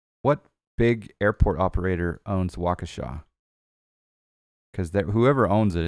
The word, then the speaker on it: Waukesha: Atlantic hanger it's pronounced Waukesha Lakeisha like you know someone from The Cosby Show or something Waukesha I gotta remember that